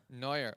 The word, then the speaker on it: Neuer: Lionel Messi, I don't even know I'm pronouncing that right. I think Lionel Messi. Manuel, oh gosh. What? Manuel Neuer. Neuer.